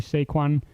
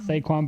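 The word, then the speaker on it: Saquon: a very good year this year I think saquan Barkley will come back I said it right did you hear that Shaquan saquan Barkley will come back and have a uh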